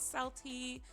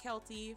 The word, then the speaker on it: Celty: My name is Selty. Um, not Kely, but if you guys mispronounce it, that is totally fine.